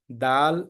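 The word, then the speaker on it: دال: do do is wrong Dal is correct uh this is the name of the letter and the its characteristic is a light sound uh the shape is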